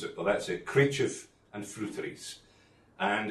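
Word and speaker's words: Creideamh an Freuteries: and um many people ask me how to pronounce it but that's it Cref and fies and it's a combination of GIC and um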